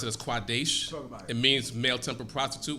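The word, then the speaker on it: קָדֵשׁ: you also have the word quadesh when you pronounce it as quadesh it means male temper prostitute when you say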